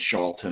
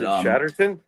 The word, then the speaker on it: Chatterton: He does have a professional relationship with Miss Charlton. I hope I'm saying it right. I think I'm saying it wrong. But Chatterton? Chatterton, thank you.